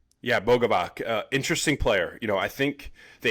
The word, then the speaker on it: Luka Bogovac: Let me pronounce this right. Luka Bogovac. Yeah, Bogovac.